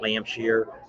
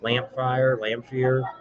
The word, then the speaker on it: Lamphere: We just went over to, I always pronounce it, it's not Lampshire, Lamphere, across from Glencoe.